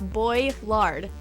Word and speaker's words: Boilard: butchered a lot um it's boy lard pretty much spell the I out as if it's a y it's a lot easier that way all right and then